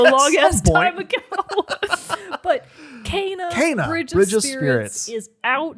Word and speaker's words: Kena: getting to finally play Kana. That's right. Bridge of Spirits. Oh my God, Mogan, it's here. Also, we've realized that it's pronounced Kana and not Kina.